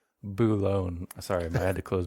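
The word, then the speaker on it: Boulogne: to uh bullone France baloney no no it's they don't have baloney they have buone sorry I had to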